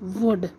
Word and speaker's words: would: It's not would, no, no L, no, it's would. Pronounce it as, hablas eso, would.